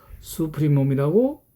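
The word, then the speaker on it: supremum: 그래서 집합 2의 모든 원소들보다 크니까 집합 2에 대한 수프리 이니셜 SUP로 수프리움이라고 읽을 겁니다.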